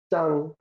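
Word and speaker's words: 长: বুঝায় উন্নতি না এমনি শুধুমাত্র যদি ছাং উচ্চারণ হয় তখন শুধু লম্বা হবে আর এটা যখন দেখেন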